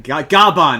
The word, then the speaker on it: Gavan: Gaban is how they pronounce it in Japanese.